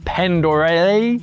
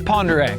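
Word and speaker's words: Pend Oreille: And now we are here in northern Idaho at the popular Lake Pere. It's spelled ridiculous like pandere, but it's Pere.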